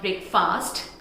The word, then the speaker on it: breakfast: It's not breakfast, it's breakfast. Breakfast. Breakfast. And the next word is this. Again, people pronounce this word as women.